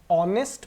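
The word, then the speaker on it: honest: तो देखिए इसको हम लोग क्या पढ़ते हैं? ऑनेस्ट पढ़ते हैं।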